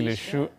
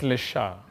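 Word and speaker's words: Leshurr: I don't know if I'll pronounce this right. Lady Leshu... it's Lesha.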